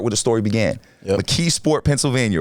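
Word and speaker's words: McKeesport: Mkeesasport Pennyslvania, right?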